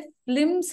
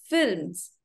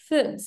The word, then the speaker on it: films: Very good, কিন্তু একটা জায়গায় কারেকশন আছে, ফিল্মস হবে না, আমরা অনেকেই ভুল প্রনান্সিয়েশন করি এটার, এটার উচ্চারণ হবে ফিল্মস, FILMS, ফিল্মস, okay, not ফিল্মস।